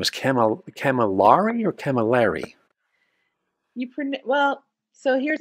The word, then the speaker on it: Camilari: It's not calamari. It's Camilari. And if you think of it's A-I-L. So it's Camilari, but it is pronounced Camilari.